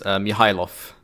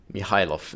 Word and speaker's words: Mihajlov: That is Mihajlov. Mihajlov is how you pronounce that.